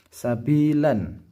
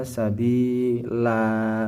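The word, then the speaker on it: سَبِيلًا: Kenapa dibaca sabila Pak Guru? Karena ketika dibaca waqaf berhenti, maka fathah tanwin ini turun separuh, maka ia menjadi dibaca panjang, menjadi mad tabi'i yang dibaca akhir. Jadinya dinamakan mad aiwad. Wasa'a sabila, bukan sabilan, tapi sabila begitu.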